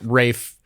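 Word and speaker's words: Ralph: Yeah, I like it when you correct me with something like Rafe, you know, because that's that is ridiculous. By the way, Mr. Rafe Fines, you spell your name wrong.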